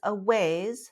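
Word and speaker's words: Awayz: a month there is a ways that's spelled a-w-a-y-z they just started with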